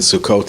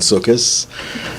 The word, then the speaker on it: Sukkot: the Festival of sukkas I'm going to alternate in pronunciation between Sukkot and sukis circus is the ashkenazic pronunciation which is the one I grew up with and Sukkot is the spartic one which is the one they use in Israel but it's the same